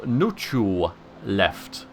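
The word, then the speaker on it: Nchuleft: So anyway, the Lusty Argonian Maid and the Chronicles of Nuchu Left is apparently how it's said, and that makes perfect sense, actually.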